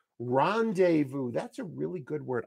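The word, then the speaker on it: rendezvous: word bum bum bum three- syllable word stress on the first syllable Rondevu that's a really good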